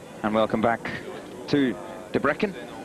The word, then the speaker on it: Debrecen: And welcome back to Debrecen, or Debrecen as they pronounce it over here.